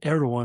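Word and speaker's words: Erdoğan: That's spelled E R D A G O N, but Erdogan is how it's pronounced.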